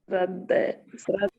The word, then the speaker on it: श्रद्धया: श्रद्धया में द आधा है, ध पूरा है, इसको ध्यान रखिएगा।